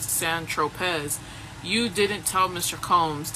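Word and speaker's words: Saint-Tropez: When you bought the eightball of C on St. Tropz, pronounced San Tropz, you didn't tell Mr.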